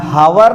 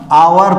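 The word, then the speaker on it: hour: Honest, ये honest, ये इसे हम हावर नहीं पढ़ते, इसे हम आवर पढ़ते हैं, ये आवर, और हम इसे हेयर नहीं पढ़ते हैं, इसे हम पढ़ते हैं एयर।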